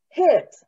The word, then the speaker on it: Hirt: okay right so hit is it it is it is pronounced in the german way it's pronounced in the